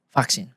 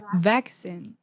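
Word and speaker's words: vaccine: Vaksin. I. Iya. Karena suku kata pertamanya apa namanya? Cursing di bahasa Inggris. Cara baca yang benar gimana? Vaksin. Enggak pakai fak vin. V v v v v vacin.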